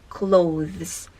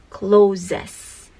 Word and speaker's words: clothes: correct pronunciation is label second clothes the correct pronunciation is clothes Japanese people say closes next Canadian Japanese people say Canadian the correct